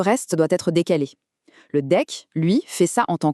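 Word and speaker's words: deque: Prochain outil, le deck qu'on prononce deck.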